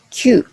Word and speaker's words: 休: En onyomi, on lit comme kyu. En kunyomi, on lit comme yasu mu.